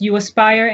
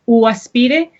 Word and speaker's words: UAspire: Y también les quiero contar de mis amigos en la organización UAspire, se dice en inglés UAspire, en español se pronuncia UAspire, que es una organización que trabaja con estudiantes y familiares para planificar la ayuda financiera de la universidad.